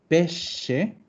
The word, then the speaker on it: pesce: Y vamos a ver, para que vean la diferencia entre una pronunciación y otra, po. Miren esto. ¿Cómo se? Pesce, Pesce.